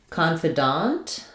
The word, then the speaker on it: confidant: So for confidant versus confident, the difference here is that in confident, we stress the con syllable. In confidant, we stress the dant syllable.